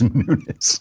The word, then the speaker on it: Nunes: That nobody knows how to pronounce it. It's Nunes.